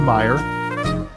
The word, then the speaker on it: Meyer: Second of all, his name is Urban Meyer. Oh, so Meyer, okay. So you said his name wrong, but that's okay because